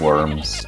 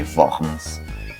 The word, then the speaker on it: Worms: assembly housed in the city of worms or should i say vans as it is pronounced the german and here martin luther